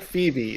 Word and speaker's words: Phoebe: It's like Phoebe. It's O-E, pronounced E.